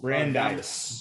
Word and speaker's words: Brandeis: university of texas um he's pronounced at brandes brandis high school brandeis brandeis brandeis the san antonio area